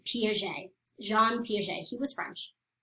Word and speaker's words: Piaget: And that's how you say his name, Piaget.